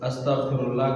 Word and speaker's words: استغفر اللہ: گناہ معاف فرما دے۔ اب یہاں پر استغفراللہ کا جو صحیح تلفظ ہے اس میں ایک ہے غین کے نقطے کے ساتھ اور ایک ہے عین بغیر نقطے کے، لیکن جو غین کے نقطے کے ساتھ ہے اس کا معنی صحیح ہے وہ تلفظ، اور اگر چھوٹے عین کے ساتھ پڑھو گے بغیر نقطے والے عین کے تو اس کا معنی بالکل غلط ہو جاتا ہے۔ دیکھو استغفراللہ غین کے